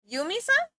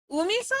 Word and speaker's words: Umisa: Yumisa? Umisa or Yumisa? Umisa because there's no Y.